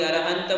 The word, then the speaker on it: अरहंत: प्रकार की समस्याएं, कोई अरहंता बोलता है, कोई अरहंत बोलता है, कोई सिद्धा बोलता है, कोई सिद्धे बोलते हैं। कहाँ हमारे लिए कौन सा उच्चारण करना चाहिए?